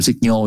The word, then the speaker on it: signal: Còn chữ signal đọc là signal nha, nhô trong Ronaldinho á, signal.